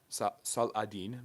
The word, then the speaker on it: Saladin: Saladin, that is how you actually say his name.